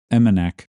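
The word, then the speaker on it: Emmonak: I should have looked up how to pronounce that properly. My apologies for that, but it's Imanak. And that is where the village office for Chuloonawick resides. The residents of Imanak, they use Chuloonawick still as a fish camp,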